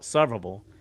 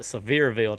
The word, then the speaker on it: Sevierville: But I went There's this place in and I say this name wrong every time, but it's I call it Sevierville. But some people call it Sevierville, Tennessee.